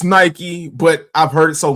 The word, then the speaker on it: Nike: a little crazy because the term is Nike and for whatever reason, people in the UK don't like to pronounce certain vowels or letters or things like that. And I'm just like, it's not Nike. It's Nike.